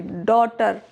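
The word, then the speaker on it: daughter: डॉटर through यह you vowel है।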